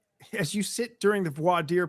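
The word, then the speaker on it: voir dire: you sit during the voi deer process or as a judge in Texas once called it boar Dyer um but it's really brought deer um pronunciations then and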